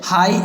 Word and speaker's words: high: जैसे इसमें HIGH लिखा है तो GH को नहीं पढ़ के सिर्फ HI को ही पढ़ेंगे। हाई, ऐसे इसमें दो, इसमें फाइट, इसमें लाइट, इन शब्दों को ऐसे ही पढ़ेंगे।